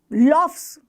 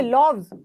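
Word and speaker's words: loaves: लॉफ्स, लॉव्स, क्या बोलोगे? लॉव्स, लॉफ्स नहीं बोलोगे।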